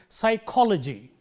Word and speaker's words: psychology: When you have the suffix logy, the syllable immediately preceding logy will be stressed. That is the rule. You highlight that syllable, and therefore, you say psychology. You see, psychology. It is not psychology. It is not psychology, but it is psychology, and it applies to all words ending in logy.